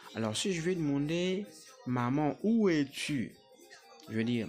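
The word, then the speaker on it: 妈妈: Comment on dit maman en chinois? Maman en chinois, c'est aussi pratiquement la même chose qu'en français. C'est la prononciation qui diffère. Maman, c'est mama. Mama.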